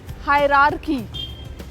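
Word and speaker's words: hierarchy: नाउ इट इज़ नॉट हायरार्की।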